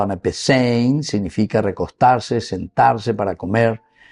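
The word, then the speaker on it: ἀναπεσεῖν: El verbo griego que utiliza es anapesein, pronunciado anapesein, significa recostarse, sentarse para comer, evocando la postura típica de los banquetes formales en el mundo antiguo.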